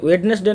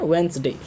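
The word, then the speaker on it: Wednesday: पर ध्यान रखिएगा कि वेडनेसडे नीस कहते हैं इसको हम लोग कहते हैं वेनसडे वंस देती रहती है साइलेंट और बोलते हैं हम लोग इसको वेनसडे व्यक्ति को इस तरह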